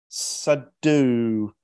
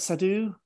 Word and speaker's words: Soueidan: could do that but I think I can pronounce the next one so we also got hey Sam said do is that sadhu right there you got it oh I got it right almost right so hi everyone yeah